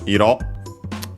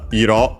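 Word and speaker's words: 色: An adjective comes from the doubling of the word iro, accented on the last syllable on its own.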